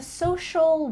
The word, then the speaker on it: social: I'm a social worker. Make sure that you say shul, social, social worker.